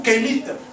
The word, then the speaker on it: Kemet: Donc, prononcer Kamit ou Kémit, parce que les voyelles là ne sont pas là. Donc, on met les voyelles qu'on a ou qu'on peut.